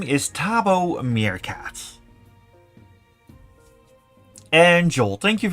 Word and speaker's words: Thabo: My name is Tabo Meerkat. And Joel, thank you very much. And you're welcome, Heiko. Yes, Tabo Meerkat. Tabo is a name in Swahili, often being used in South Africa. Tabo means happiness.